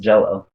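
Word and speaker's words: Jellÿ: It's still spelt Jello, or sorry, no, it's spelt Jelly, but it's pronounced Jello. They still pronounce it Jello.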